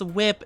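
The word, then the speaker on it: WIP: Oh, like it's pronounced whip.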